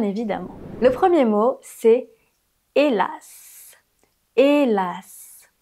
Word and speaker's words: hélas: Le premier mot, c'est hélas. Hélas. Pour une fois, tu dois prononcer le S à la fin.